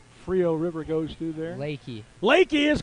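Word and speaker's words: Leakey: of san antonio frio river goes through there leki is correct and they take a 5-4 lead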